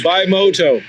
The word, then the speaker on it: Bimota: The R is silent, like the P in swimming. It's Bimota.